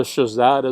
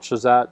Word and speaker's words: SHSAT: I call it SHSAT. Some people spell it out.